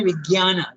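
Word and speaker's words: vijñāna: In our Indian language, we say Vijnana, Ga. But it is, you have to pronounce it in Sanskrit, Vijnana.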